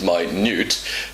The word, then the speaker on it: minute: so he's saying he's my Newt uh the uh the amphibian I told you but of course when he pronounces it minute it sounds like my news which means very very small and that's why he